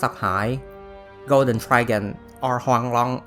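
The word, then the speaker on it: Huanglong: high Golden Dragon or Huang long as it's pronounced in Chinese is a mythical creature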